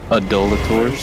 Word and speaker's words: Adulators: I've read it like it's not pronounced that way, but like I skipped a letter and it looked like adulterers. They're here to steal your wives and It's spelled Adulators.